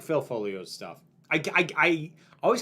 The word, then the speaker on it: Foglio: I I like uh I like Phil Folio's stuff. I I I always have to remind myself don't pronounce the G.